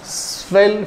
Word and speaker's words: swirl: Such fields are swell fields. Such fields are swell fields. SWIRL. Okay. R is silent.